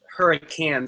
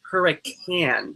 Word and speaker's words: Hurricane: station down in hurricane West Huracan sorry hurricane that's how you pronounce it six place sissonville fifth